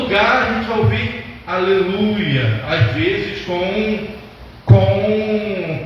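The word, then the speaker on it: הללויה: A palavra aleluia é uma palavra de origem hebraica que não se traduz para língua nenhuma. Em todo lugar a gente vai ouvir aleluia, às vezes com pronúncia diferente.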